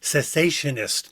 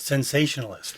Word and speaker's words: cessationist: It's cessationist, not sensationalist.